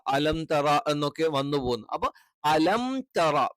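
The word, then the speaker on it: ألم تر: ഇല്ല പകരം അസ്ഹാബിൽ അപ്പൊ അലന്തറ ആയി പോകാൻ പാടില്ല അലം പിന്നെ തറ എന്ന് തന്നെ കറക്റ്റ് വേണം തേ ആയി പോകരുത് അലംതറ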